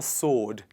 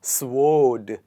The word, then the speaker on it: sword: It's called a sword. But how do we pronounce it? Is it sword because it has W in it? Let's check it out. Please repeat after me. Odd. Sword. It is not sword.